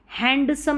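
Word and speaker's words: handsome: हैंडसम नहीं, हैंडसम, D silent है यहाँ पर भी, ठीक है।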